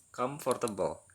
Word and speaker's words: comfortable: Padahal kalau misalkan kita perhatikan secara mendalam, ini diucapkannya hanya 3 kali. For di sini tidak diucapkan. OR di sini nggak diucapkan. Pengucapan yang benar itu adalah comfortable. Comfortable. Ini jadi 1. Table. Jadi dia sebenarnya ada 3 pengucapan.